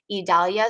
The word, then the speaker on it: Idalia: name on the list the pronunciation idalia so e-e-d-a-l-y-a those can also be